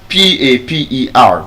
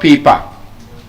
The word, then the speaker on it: paper: So that means PAPER would be what? We call it what? Paper. Which means it is wrong. We've been mispronouncing that word all along. It's not paper. Paper. The schwa sound.